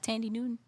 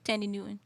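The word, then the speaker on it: Thandie Newton: she was on Norbit about Tandy Newton yeah that's how you pronounce it yeah Tandy Tandy Newton yeah that's her daughter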